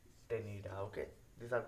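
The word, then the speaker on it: ctenidia: Okay, यहाँ पे gills को बोला जाता है टेनिडा, सी silent टेनिडा। Okay, these are called as tenida and these are located in the mental cavity।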